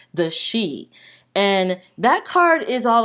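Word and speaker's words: Sidhe: It's spelled like the Sidhi, but upon further research, I found that it's actually pronounced the she.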